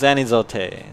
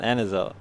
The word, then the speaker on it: Anizote: I was saying it wrong the whole time. It was Anizote, not Anizote. Fuck.